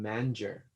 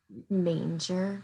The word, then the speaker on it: manger: it was good um one i kept saying manager oh and it's manger right yeah yeah she said